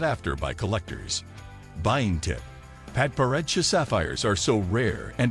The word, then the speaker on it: Padparadscha: Padparadscha, pronounced Padpa Raja, sapphires are extremely rare and are found primarily in Sri Lanka as well as Tanzania and Madagascar.